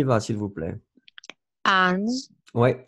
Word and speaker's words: ange: Ange. Ouais. Essayez de faire la nasale vraiment comme une nasale. En, en, en.